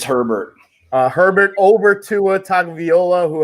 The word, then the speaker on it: Herbert: How do you pronounce it? Herbert. It's Herbert.